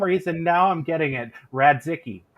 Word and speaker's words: Radzicki: now I'm getting it rad zicky right am I saying it right rad Dickey perfect so we are really